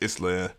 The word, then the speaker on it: Isla: It is Isla, or my bad, because I said their name wrong in the video that I just did, along with some other things I'm going to correct.